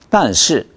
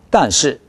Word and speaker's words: 但是: 단시. 단시. 네, 좀 빨리 해볼까요? 그러나는 그렇게 강조되는 게 아니니까. 단시. 단시. 아, 단시. 단시. 네, 아무리 짧게 해도 주요 모음이 길어야 합니다.